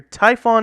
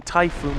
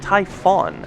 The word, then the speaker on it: Typhon: died again hi guys stop calling them typhoon it's pronounced Typhon I believe okay yeah we can't